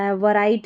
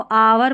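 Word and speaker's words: hour: इसको आवर पढ़ेंगे, हावर नहीं पढ़ना है, एच साइलेंट है.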